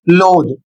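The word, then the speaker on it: loathe: इसको पढ़ेंगे लोड।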